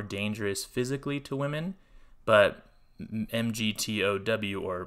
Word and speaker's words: MGTOW: may be more dangerous physically to women but mgtow or mgtow as it's pronounced can have some very detrimental societal consequences